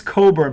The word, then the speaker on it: Cockburn: I call him Cockburn. How is that? Because it's spelled Cockburn. It's Coburn, but it's spelled Cockburn.